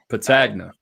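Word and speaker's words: Petagna: That's Patagna. Patagna. Why would I say Patagna at the beginning? Because Patagna is actually the right pronunciation if you're from Sicily. But you know, we're in America. It's Patagna.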